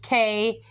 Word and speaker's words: Khepri: Now it's spelled Khepri, but the sound is Khepri, and he is associated with the sun.